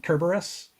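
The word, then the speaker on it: Kerberos: Kus um I C kerberus okay does not have a soft sea that's true but then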